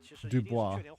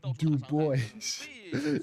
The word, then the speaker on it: Du Bois: It's pronounced Dubois. It's pronounced Dubois.